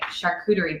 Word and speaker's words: charcuterie: And for me, it's always a charcuterie board.